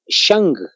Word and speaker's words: Shang: Así se escribe, la dinastía Xia. La segunda, la dinastía Shang, S-H-A-N-G, la dinastía Shang.